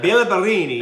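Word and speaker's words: Béla Barényi: Or Bela Barini. Bela Bela Barini. Villa Bellini. Bella Barini. if you say it right, Bela Barini And his team.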